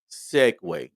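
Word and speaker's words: segue: was dealing with the the Italian word s-e-g-u-e Segway and we made fun about um it being not not looking the way it's pronounced and when dude when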